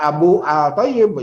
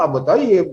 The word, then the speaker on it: Abu Thayyib: Bacanya tetap pakai kaidah tajwid. Jangan dibaca Abu Al-Thayyib, jangan. Bacanya tetap Abu Thayyib.